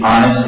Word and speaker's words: honest: But these are among the few words in English that have a silent H sound. Most H's in English are pronounced, but in these words, you don't pronounce the H.